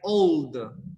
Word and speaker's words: old: Because you need to pronounce the L because that's the action. Or another one's like old.